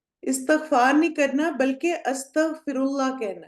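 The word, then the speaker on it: أستغفر الله: जाती है बोलने में, और वो है कि अस्तगफिरुल्लाह होगा या इस्तिगफिरुल्लाह होगा, 1 या 2। ऑप्शन 1, ठीक है, अलिफ पे जबर है, तो ये भी आपने थोड़ा सा प्रोनाउंसिएशन में इन चीजों का ध्यान रखना है। अस्तगफिरुल्लाह इज करेक्ट।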